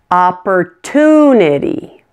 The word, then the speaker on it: opportunity: na technology one more opportunity 5 syllables in this one ah / - neti opportunity the suffix is ity so stress is on toon opportunity now here's your quiz